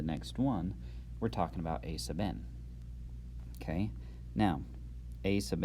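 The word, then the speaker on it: aₙ: It's pronounced a sub n, because n is a subscript.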